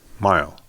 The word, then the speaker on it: Mighell: look at it and he goes mile and I thought he might knew know my father and uh I go how did you pronounce that correctly and he goes well